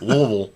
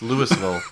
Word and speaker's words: Louisville: a seminary in louisville sometimes pronounced louisville sometimes pronounced lewisville louisville he's giving me the